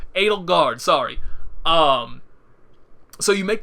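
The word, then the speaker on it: Edelgard: what was ale garden I knew I was saying her name wrong Adel Berg where'd that come from that's what that's why I pause a little bit like I'm saying that her name was not a de Berg Adel guard sorry um so you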